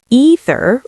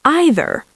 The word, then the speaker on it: either: Let's talk pronunciation because either and neither actually have 2 accepted ways to say them. Yes, and learners sometimes think they're doing it wrong when they're not. So you can say either or either.